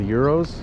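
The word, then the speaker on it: gyros: They have something called Euros, spelled with a G, and they're really good.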